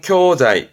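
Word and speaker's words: 教材: 발음은 쿄자이, 쿄자이.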